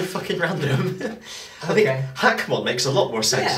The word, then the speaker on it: Hackmon: Hacksmon. Apparently, because in Japanese it's Hackmon, apparently it's a reference to Huckleberry Finn. It's so fucking random. Okay. I think Hackmon makes a lot more